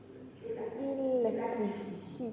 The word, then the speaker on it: electricity: So it becomes Electricity. What do you say? Electric. Same. You say electricity. Different, right? Yeah. The stress shift.